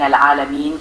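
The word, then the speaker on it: العالمين: In Alhamdulillahi Rabbil Alameen, your pronunciation was clear, but ensure the ah in Al-Alameen comes from deeper in the throat.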